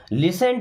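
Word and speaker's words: listen: मेरे लिए पर्याप्त है लिसन टू मी यहां टी साइलेंट होता है लिसन मीस सुनो टू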